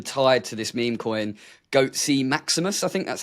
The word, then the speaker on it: Goatseus Maximus: And from that, it's sort of been tied to this meme coin, Goatseus Maximus. I think that's how you pronounce it. Yeah, Goatseus Maximus, which it manifested by tweeting about it until someone made a meme coin for it.